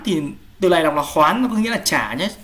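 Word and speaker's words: 还: Một số bạn bảo thấy ở chỗ này phải đọc là hái, sao lại là hoán, thì từ này đọc là hoán, có nghĩa là trả nhé, trong động từ trả sách nhé, thay tôi trả sách nhé.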